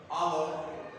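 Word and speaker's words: hour: अच्छा, अब यहां पर आप देखेंगे बेटा कि ये एच है ना, ये साइलेंट होता है। ओ से पहले जब भी एच लिखेंगे ये क्या होगा, साइलेंट होगा, ये साउंड नहीं देगा।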